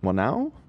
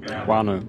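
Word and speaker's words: whānau: Sorry if we're saying it wrong. Wanu. Wanu. Oh, Wanu.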